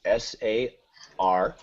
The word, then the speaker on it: Sarcophage: Oh, Sarcophage is Sarcophage. All right. It's supposed to be like sarcophagus, which I was like, oh, make it into a planet-sounding name.